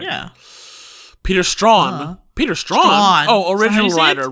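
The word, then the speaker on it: Straughan: Stragan? Oh right, I can just go to crew. Sorry, you're right. Yeah. Peter Strawn.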